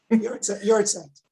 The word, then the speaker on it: Yahrzeit: What are some Jewish ways of dealing with grief beyond sitting Shiva and doing Yahrzeit every year? And I may have mispronounced that. Oh, you didn't mispronounce it. That's good. Yahrzeit.